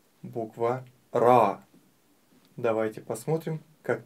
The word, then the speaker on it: ر: Давайте еще раз. Начинаем ее над строчкой. Основная часть под строчкой. Давайте правильно произнесем эту букву. РА. РА. РА. Не нужно делать губы трубочкой. О. Вытягивать. РО. Нет. Правильно произносить. РА.